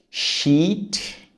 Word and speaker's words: sheet: Shat shit. Sheet. Shit. Percebe a diferença?